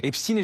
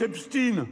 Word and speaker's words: Epstein: L'occasion pour lui de revenir sur le supposé silence médiatique autour de l'affaire Epstin et Jean-Luc Mélenchon de jouer sur la prononciation du nom du pédo criminel américain Jeffrein.